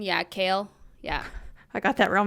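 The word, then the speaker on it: Kailyn: Uh Kalin. Yeah, Kale.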